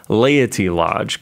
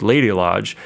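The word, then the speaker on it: Laity Lodge: weekend over uh and I'll say this pron pronounce this really well Ley Lodge cuz sometimes when you say it you're like lady Lodge and people are like that's really strange like what's lady Lodge lady Lodge does have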